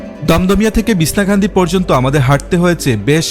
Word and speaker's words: বিছনাকান্দি: share করব তো চলুন বিছনা কান্দি আসলে আমি খান্দি খান্দি বলছি আমাদের সিলেটের উচ্চারণ আমরা এভাবেই করি মূলত উচ্চারণটা হবে বিছানা কান্দি আচ্ছা যাই হোক তো